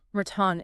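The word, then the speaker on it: ratón: okay the audas okay the rule here is if an Auda word NS and enz's or a vowel okay it gets a till on that last emphasized syllable so a word like ratton meaning Mouse ratton exactly would need a till yes because it's an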